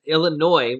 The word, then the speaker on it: Illinois: the well actually actually illinois is illinois without the s this is silent uh illinois has not